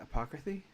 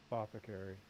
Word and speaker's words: apothecary: this small town and run how do you pronounce that, apocryphy? Apothecary.